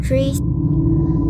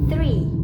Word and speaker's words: three: Tree. I say three, which is incorrect, but it should be three. The mistake is in the th sound. I replace it with t, like three, not three.